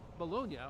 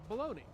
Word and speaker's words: bologna: generally spelled the same they can be pronounced bologna or baloney further he notes the